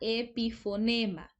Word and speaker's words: epifonema: Si se fijan, esta palabra no lleva tilde porque a veces nos confundimos. Cuando yo digo epífora, epífora sí lleva tilde porque es una palabra esdrújula, pero en el caso de epifonema es una palabra grave y no se tilda porque termina en vocal.